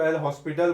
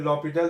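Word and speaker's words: L'Hôpital: देखिए इसको जो है बहुत लोग जो है अलग अलग तरह से प्रोनाउंसिएट करते हैं, कुछ लोग इसको एल हॉस्पिटल बोलते हैं, कुछ लोग इसको एल हॉस्पिटल या फिर लॉपिटल भी बोलते हैं।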